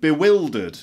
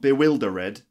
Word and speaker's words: bewildered: fourth is the word bewildered which means confused bewildered not bewilder ed but bewildered for example I was bewildered